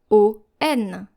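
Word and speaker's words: oignon: Now when you read this word, you are very tempted to say because we have an O I and then a G N. But this is an exception and we have to pronounce it on o the next word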